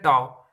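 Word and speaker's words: tau: एंड इसमें एक और टर्म जिसको हम ये वाले सिंबल से डिनोट करते हैं, इसको हम बोलते हैं टाउ। इसको हम प्रोनाउंस करते हैं टाउ।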